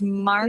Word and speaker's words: Markle: I know, but it looks like Miracle, and it's Markle.